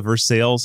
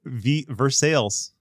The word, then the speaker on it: Versailles: No, we have like a Versailles in Kentucky and my God. What did you just say? Versailles. You mean Versailles? No, I mean Versailles.